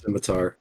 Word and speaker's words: scimitar: the cooler Weapon by far so yeah definitely simitar yeah I was just gonna say Jimmy skimy he probably knows a pronunciation of that so like it's Scimitar but